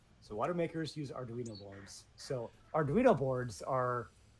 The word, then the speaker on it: Arduino: Is that Is that the correct pronunciation of that word? Arduino. Arduino. Adrino. Arduino. Arduino.